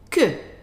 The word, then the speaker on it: que: So how would you pronounce this one here? Que.